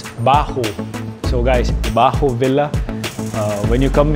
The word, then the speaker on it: Baahu: I know Filipinos if you're watching this it's pronounced I said bajo sorry my bad it's Bahu so guys when you come here and considering